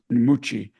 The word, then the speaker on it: Mucci: West Point muy and in Italy by the way of pronounce nuchi had served as an